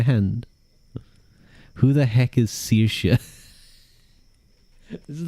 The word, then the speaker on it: Saoirse: It's either Serca or Sirsh I misspelled the second one. It's Saoirse. That's how you That's how you spell it. You might know it from Saoirse Ronan. Or some other It is Yeah. Irish names are kind of like French names where the spelling is barely a recommendation.